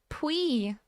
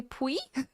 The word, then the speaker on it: Poi: Thank you very much, Poi, and thank you very much to Gemino. Oh, it's pronounced like Pui. Pui? Oh, that's so cute. Wait, would you prefer if I say Pui?